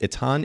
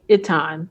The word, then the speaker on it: Itan: For everybody, again, further context, if you go to, is it spelled or pronounced Etan Images or Yes, so it's Itan.